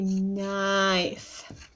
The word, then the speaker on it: knife: Slice meat like a, and then that bossy E one also with a silent K. Like a knife.